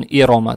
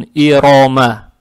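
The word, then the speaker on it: إِرَمَ: Теперь Ирома. Аят начинается на алиф с хамзой и касрой. Касру произносим мягко, как есть и. Далее стоит буква ро с фатхой. Фатха приобретает оттенок о. Ро читается твердо. Иро.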